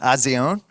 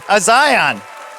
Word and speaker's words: A'zion: All right, let's bring out, how about Odessa, Azion? No, Azion. I said it wrong. I practiced beforehand, too. Azion.